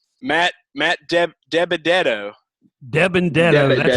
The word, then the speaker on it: DiBenedetto: Debendetto. That's how it's pronounced. Debendetto.